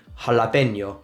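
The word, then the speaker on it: jalapeño: J is pronounced like a H. So if you want to say jalapeno, you say jalapeno, right?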